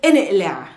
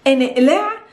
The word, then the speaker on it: إنقلع: sisters, for example, is inqlaa. Inqlaa. Inqlaa is a verb, it's an imperative verb. It comes from aqlaa or inqalaa, because in the Palestinian dialect we don't pronounce the qa. We pronounce it ah.